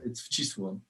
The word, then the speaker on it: Wcisło: I don't dare try to pronounce it. Yeah, it's a killer. It's Wcisło.